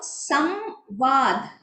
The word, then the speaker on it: संवाद: तो संवाद क्या होता है? संवाद, संवाद व ही रहता है, लेकिन व का वो प्रोनाउंसिएशन अनुनासिक नेसल होता है।